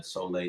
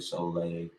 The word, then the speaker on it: Sohleè: follow me on twitter instagram at uh solay spell s-o-l-h-e-e the god g-h-a-u-d um that's on instagram and twitter again god is spelled g-h-a-u-d and then soleil s-o-l-h-e-e i mean it's really good that you